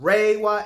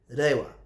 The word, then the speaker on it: Reiwa: Not Reiwa era that people are pronouncing, it's Reiwa, all right? Because in Japanese, because I just finished my first Japanese course today, actually, the R sound is not like R. It has a D or L sound, Heads up.